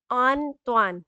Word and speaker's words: Antoine: So the pronunciation for it is on, like A-H-N, Tuan. So like Antoine.